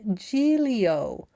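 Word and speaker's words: Giglio: New York Post, you are an is pronounced Gileio, which would have been helpful as a pronunciation guide at the beginning of the GD article, you jackasses.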